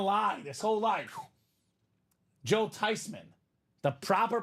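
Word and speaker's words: Theismann: been living a lie this whole life Joe tyman the proper pronunciation of the last name Robbie Joe tyman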